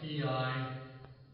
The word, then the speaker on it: Piarist: That's spelled P-I-A-R-I-S-T. I pronounce it Piarist. Like where you put a boat in a pier, then put an IST on the end of it.